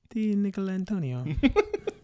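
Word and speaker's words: DiNicolantonio: Look at, how do you pronounce that last name? Di Nicolantonio.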